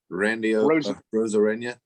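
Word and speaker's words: Randy Arozarena: casey you say it way better than me randy rosarina thank you very much that was one of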